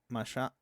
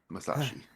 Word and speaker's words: Masashi: We have uh Ma Masha Masashi Masashi.